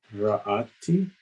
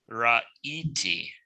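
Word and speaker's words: ראיתי: Ra'ati. Ra'iti, because you have the yod there, right?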